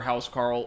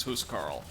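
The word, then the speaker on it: huscarl: no i think like depending on the way it's anglicized it's either house carl or huss carl i think the actual phonetic pronunciation of the word in at least some places is who's carl um okay i thought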